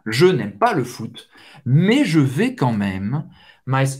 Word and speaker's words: mais: AI tem o som do E, um pouco aberto, mais, você não vai pronunciar o S no final.